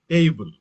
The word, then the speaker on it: able: As I told you, able, the stress is on first syllable.